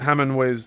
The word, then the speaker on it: Hemway: And this is spel Lieutenant Hemway's name is spelled H E M W A Y. So not Hamming way but Hammond way.